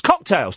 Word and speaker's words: cocktails: It's cocktails. 2 syllables. He's got a third syllable in there.